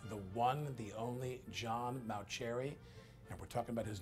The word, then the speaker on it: Mauceri: in England Bowie and your name is Mao cherry not mo cherry that's right or must